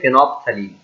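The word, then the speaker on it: phenolphthalein: इसमें L first L silent है, सो हम पढ़ेंगे फेनोप्थलीन।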